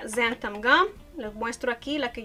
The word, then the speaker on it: xanthan gum: En inglés se pronuncia xanthan gum.